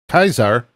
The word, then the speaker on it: Caesar: And the one thing I did learn was uh Caesar is actually uh historically it was pronounced uh Kaisar and we just changed it.